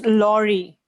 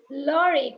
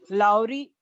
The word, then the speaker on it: lorry: It's Lorry. Lorry, correct. That is the correct pronunciation. But what happens when you hear the word in Tamil Nadu or you hear the same word in Kerala? There's a more emphasis on Lorry. It goes like Lowry, something like that.